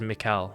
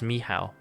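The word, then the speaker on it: Michał: uh from uh Rebel Wolves sometimes very sometimes and and I always just assumed it was Mikuel but it's Mihal which is fascinating to know.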